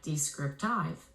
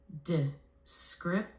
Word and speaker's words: descriptive: When I blend them together, it sounds like descriptive. That doesn't sound right. I have to flex some vowels to schwas to clean up the pronunciation. I will flex the first and the last vowel phonemes to the schwas, and the word morphs into this: descriptive.